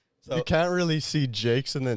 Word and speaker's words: Jacques: Do you think it's Jacques? It's his Jacques? No, it's Jake's.